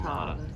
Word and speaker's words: Kalamata: How do you say it? Kamata Kalamata.